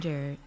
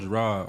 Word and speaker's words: Jared: And I can't get anybody to see, like, when have you ever seen ED pronounced odd? In any other word, can you show me where ED gets pronounced odd? But for some reason, people read Jared and they come up with Gerard.